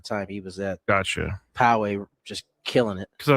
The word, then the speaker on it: Poway: I've been told that it's Poway. That's how you pronounce it.